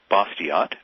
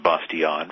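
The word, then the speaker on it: Bastiat: a fellow named Frederick bosot B- a s t a t I think it's pronounced bason French but that doesn't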